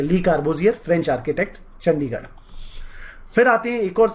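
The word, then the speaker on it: Le Corbusier: जैसे कि अगर हम पंजाब गवर्नमेंट की बात करें, उन्होंने एक आर्किटेक्ट हुआ करते थे फ्रेंच आर्किटेक्ट जिनका नाम है ली कार्बोसियर। क्या नाम है?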